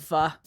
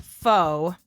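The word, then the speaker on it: phở: delicious oh we love F love it but it's spelled pH H so it looks like it would be pronounced faux fo but it's F so yum question five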